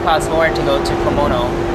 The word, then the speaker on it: Comino: It actually costs more to go to Comino, or Comino, as they pronounce it here.